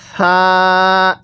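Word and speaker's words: حاء: এই হরফটির নাম তা এরপরে এই হরফটির নাম হা এরকম ভাবে শিখবো এরপরে জিম জিমটা আমরা শক্তভাবে উচ্চারণ করব যদি এই জিমটাকে নরম ভাবে পড়ি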